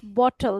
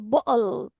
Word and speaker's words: bottle: And one is glottal sound. They don't pronounce bottle. They say bottle.